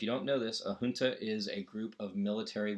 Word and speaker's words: junta: So what they say is, and it's pronounced junta, not junta, despite the fact that my favorite band's first album was named Junta and pronounced that way solely to mess with people's heads.